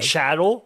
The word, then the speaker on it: chattel: The chattel, is that how you say it? Yes.